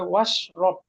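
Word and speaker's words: وَاشْرَبْ: তাহলে কুল খাও, ওয়া ইশরাব, কিন্তু হামজাতুল ওয়াসাল আগে যখন ওয়া এসেছে তখন ওরা উচ্চারণটা থাকবে না, হয়ে যাবে ওয়াশরব।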